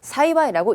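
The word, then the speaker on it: 幸い: 사이와이 다행이라고 하는 단어 저 행자를 사용해서 사이와이라고 읽습니다 발언 굉장히 중요하고요 뒤에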